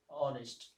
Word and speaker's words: honest: And now H is silent, honest, historical thing.